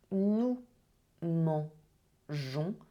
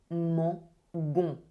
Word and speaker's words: mangeons: So what you can see for nous mangeons, we add an extra I to preserve the je sound. If you don't have the extra I, it will be mangon. So we need the extra I to preserve the sound je.